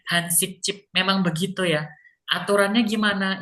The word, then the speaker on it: 한식집: Bacanya Hansik Chip. Memang begitu ya. Aturannya gimana? Ini memang G ketemu dengan J gini, J-nya ini dibacanya C.